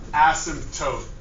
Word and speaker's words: asymptote: That is pronounced asymptote.